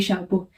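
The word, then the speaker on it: chapeau: और ये बना दे शप ये वाला एक्स लगाने से इसका प्रोनाउंस चेंज नहीं हु प्रोनाउंस एशन ना प्लूरल में शापो प्लूरल में भी शापो ही रहेगा और सिंगुलर में भी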